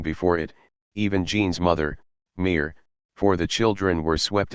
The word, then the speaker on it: mer: Mer, sea, is pronounced exactly like mere, mother.